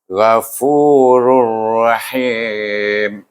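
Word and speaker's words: غفور رحيم: Kita baca dengan idgham bila gunnah, iaitu tanwin bertemu dengan huruf ra. Macam mana bacanya? Rur, iaitu jadikan dia baris 1, baris depan 1. Idghamkan dia dengan huruf ra yang dalam kalimah rahim. Jadi bunyinya Ghafurur Rahim.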